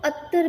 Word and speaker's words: अत्तर: तो देखो त तर, तर प्रोनाउंसिएशन क्या होता है, तर. तो त प्लस त, दो त यहाँ पे है, त प्लस त, तो इस तरह से बनेगा त. अत्तर, अत्तर, अत्तर, अत्तर.